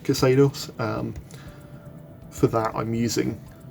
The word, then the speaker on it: Xedos: uh previous video which is cados now is pronounced cados um for that I'm using um uh something